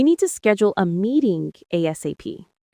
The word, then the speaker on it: ASAP: And speaking of ASAP, that's an acronym that stands for as soon as possible. It's pronounced as one word, ASAP.